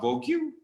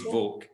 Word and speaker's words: vogue: m but in english some vowel sounds uh are silent example that word is not vogue then it's vogue all right i won't be